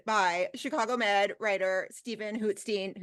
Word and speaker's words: Hootstein: So happy to be joined by Chicago Med writer Stephen Hootstein. Hootstein or Hootstein? I never say it right. Oh, well, Steen. Yes. Steen, okay.